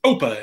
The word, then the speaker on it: OPA: opa so or oppa i was actually corrected by someone who told me it is not opa it is oppa and you need to pronounce it right uh and if you